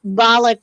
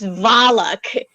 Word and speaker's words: Valak: I I I thought I thought balak was spelled with a B now with a v so I was like but no it's valak yeah it's v-a-l-a-k that's